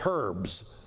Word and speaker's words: herbs: eat it with bitter herbs right or as the Canadians say herbs they pronounce the h i don't know why